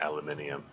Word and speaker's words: aluminium: I think I think it's a I think it's a British thing that uh the spelling it and pronouncing it aluminium um or at least at least i' I've heard British uh people uh pronounce it that way maybe other nations too I don't know just